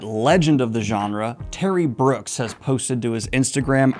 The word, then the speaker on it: Brooks: a successful career because your last name rhymes with books I had not thought of that that's very good I'm going to put my U new titles out under Terry Brooks but I'll put a